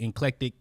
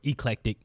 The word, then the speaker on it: eclectic: I did see the clip with she corrected him about the inclectic term or word or eclectic is how you pronounce it.